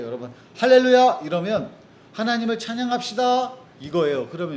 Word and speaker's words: 할렐루야: 숨은 할렐루야 찾기인데, 숨은 할렐루야 찾기, 이거 저학년도 똑같이 나와 있어요.